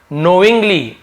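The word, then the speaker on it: knowing: हैं फालतू में जानबूझकर नोइंग के साइलेंट रहेगा केवल नोइंग नोइंग यानी जानबूझकर जानते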